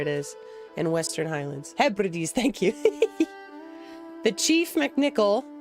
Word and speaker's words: Hebrides: How to pronounce? Hebrides. Hebrides, there it is. In Western Highlands. Hebrides, thank you.